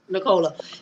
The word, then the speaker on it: Nicola: Is it Nicola? Yes. Nicola.